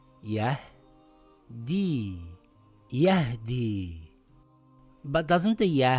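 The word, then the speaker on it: يهدي: Remember, if the ya doesn't have any marks on it, and the letter before it has a Kasra, it's a long vowel ya. It reads Yahdi.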